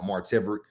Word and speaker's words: Marteverick: Marteverick : Well, no, so so Mark Marteverick, but I do get Martiverick Marteverick : a lot, but no, Martivick, like Maverick.